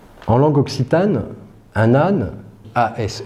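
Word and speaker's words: Ase: langue ocitane un anne a s e se prononce as as comme tout comme les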